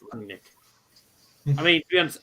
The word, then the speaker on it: Rangnick: It's just pronounced Rangnick.